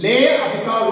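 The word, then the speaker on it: L'Hôpital: That's why by using l'Hopital rule, this is called L. The French word in L, apostrophe this is lay. Here, hospital. S is silent.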